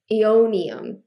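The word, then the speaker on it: Aeonium: to pronounce this word ionium EO ionium that's how you pronounce it I never would have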